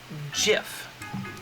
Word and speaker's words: GIF: all the memes is according to the creator of the file format pronounced jiff like like the popular peanut butter like the popular peanut